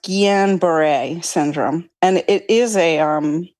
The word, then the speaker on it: Guillain-Barré: I'm pretty sure it's pronounced Guillain-Barré syndrome.